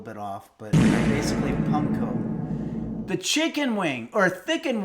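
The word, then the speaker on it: パン粉: Breadcrumbs in Japanese is panco. Okay, so I my pronunciation was a little bit off, but basically Punkco the chicken wing or thicken wing just gifted five tier one subs.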